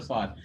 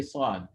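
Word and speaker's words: ص: supposed to be there you pronounce the song only put your tongue on the bottom teeth that's it you don't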